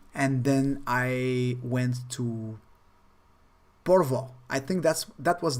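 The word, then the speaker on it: Porvoo: then i went to porvoi i think that's that was the name of the place porvo if i'm not mistaken i think that's uh that's the correct way to pronounce it it was amazing it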